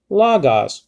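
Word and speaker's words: λόγος: see lagas see you so you're rising uh your pitch over the omicron the first omicron the first o in lagos because that's an acute marker so you rise the pitch of your pronunciation logos but now kai has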